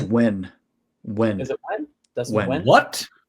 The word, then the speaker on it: Nguyen: Nguyen? I don't know. I'm horrible. I think it's just pronounced Wen.